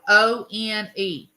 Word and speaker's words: one: The number one is spelled One, and it sounds like one, like a W.